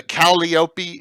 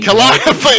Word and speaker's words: Calliope: The Acolyte, which is the the moldy green, the Calliope. Oh, I didn't say that right. How do you say that? Calliope? Calliope. I can never say that word right.